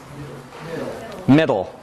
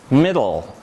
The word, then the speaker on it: middle: Middle. Okay? So again, the first syllable is me, but now pay attention to how you say dol. Middle.